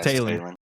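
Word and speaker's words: Taylen: Taron Green with I believe that's how you say his name, first name. Yeah, Talon.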